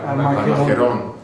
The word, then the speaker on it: Armagedón: ¿Cómo se dice en español? Armagedón, con acento al final.